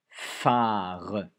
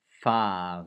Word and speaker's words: phare: Un phare. Un phare. Vous avez la fiche pour le f. Un phare. Lettre muette à la fin. Un phare.